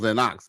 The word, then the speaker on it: Lennox: Well, mainly for you, but like I said, I know it's Lennox, I know it's Lennox because that's how you pronounce that word or that name, Lennox.